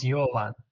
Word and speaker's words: Jovan: Is it pronounced Jovan, Jovan, Jovan? Like it's Jovan.